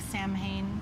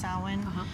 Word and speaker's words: Samhain: It looks like Samhain, but it's pronounced Samhain, and it's the witch's new year.